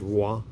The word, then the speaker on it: Roy: when i was a kid that roy was wah i thought that was so funny when i